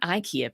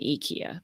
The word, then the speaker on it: Ikea: passionate about it uh EA not Ikea people listen Lisa's from Sweden and she knows so start saying eeka because that's apparently the right way to pronounce that word uh thank you for